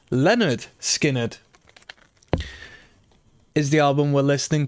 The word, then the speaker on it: Lynyrd Skynyrd: Lynyrd Skynyrd, pronounced Lynyrd Skynyrd, is the album we're listening to.